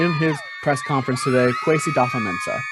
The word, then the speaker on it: Kwesi Adofo-Mensah: Kwesi Adofo-Mensah. Sounds like they cut off that first O. So it's not Kwesi Odafa. It sounds like it's Kwesi Adofo-Mensah.